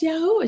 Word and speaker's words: Yahweh: His name is pronounced Yahweh." She was like, "Well, we call him Jehovah." I said, "But that there was no J in the language until 1524.